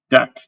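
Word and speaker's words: deque: Now, the fun one, the deck, that's not DQ because it's just, you missed the other UE, which is really funny.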